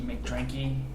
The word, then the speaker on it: McDrinky: I am on Twitter at Inky McDrinky. Is that Drinky or Drinky? McDrinky, Okay. spelled like how it sounds.